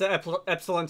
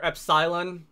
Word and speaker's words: epsilon: If I set mats epsilon to zero or epsylon, I've heard it pronounced both ways.